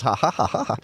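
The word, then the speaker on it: jaja: That laugh track is spelled J-A-J-A-J-A, just so you know. It's ha ha ha ha.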